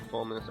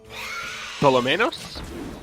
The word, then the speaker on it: Tholwmenos: We're looking at you, Tholwmenos Army. We're getting a correction here on how we should pronounce this guy's name. I believe, Tholwmenos?